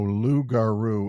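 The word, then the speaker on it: Logaroo: And that's spelled L O G A R O O. So Lou Garuru, and you should look it up because this stuff feels great.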